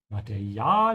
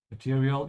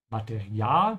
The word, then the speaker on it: Material: Make sure to pronounce it like the German A with an open A. Open your mouth wide, don't say material. Yeah, it's very different pronunciation. Just make sure you open your mouth twice. Material, but the second A is a bit longer. So stretch it a bit.